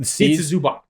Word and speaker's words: Ivica Zubac: TikTok about this also, how to pronounce the C's in Balkan languages. But a C without any accent on it is always basically TZ or TS, however you want to think about it. It's like tz.